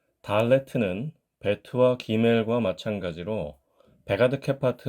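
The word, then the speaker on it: דלת: 그래서 디귿을 쓰면은 달레트 이런 소리로 발음을 하게 되지만 유성음으로 발음을 하게 되면 달레트 이런 식으로 발음을 하게 됩니다. 우리야 당연히 한국 사람이니까 편의상 디귿을 쓸 수는 있지만 본래 발음이 유성음이기 때문에 영문자 D에 더 가깝다고 생각하시는 것이 좋겠습니다.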